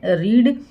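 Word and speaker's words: read: समझाया हुआ है की पेस्ट टेंस में भी रीड को रेड रीड लिखा जाता है साइंस स्पेलिंग के साथ बट डी प्रनंसीएशन इस रेड प्रोनाउंस है प्रीपोजिशंस है जो की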